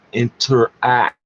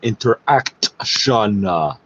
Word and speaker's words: Interac: It's pronounced interact. AC like Slater, air conditioning, not interaction, which has always been under the purview of the Treasury Board, or not.